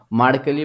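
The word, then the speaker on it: Mercalli: তাহলে কি হলো দেখো মার্কেলি বা মার্শালি যাই বলতে পারো যে উচ্চারণটা যাই করো তোমরা কোন অসুবিধা নেই তো মার্কেলি স্কেল বা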